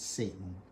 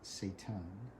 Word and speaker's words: seitan: in some seitan yeah you don't pronounce it satan but seitan there we go and